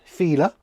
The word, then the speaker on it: Filler: Filler is Feeler.